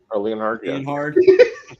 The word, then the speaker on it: Leonhard: It is Jim uh uh Leonhard. Leard. The way it's spelled is wild.